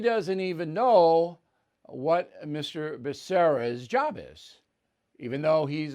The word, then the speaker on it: Becerra: i nominated javier bakaria you know javier bashir excuse me it's javier becerra now anyone can mispronounce